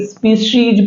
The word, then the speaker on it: species: स्पेशियस, देखो स्पेशल होता है वो लास्ट में पढ़ेंगे, SPECIES, SPECIES इसको पढ़ेंगे। स्पीशीज पढ़ेंगे, क्या पढ़ेंगे?